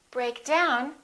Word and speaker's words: break down: With phrasal verbs, we stress the second element, which is usually a preposition. So we say, pick up. Break down, we say, break down, emphasizing the second element.